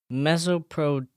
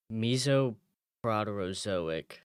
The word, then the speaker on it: Mesoproterozoic: Mesoproterozoic What era.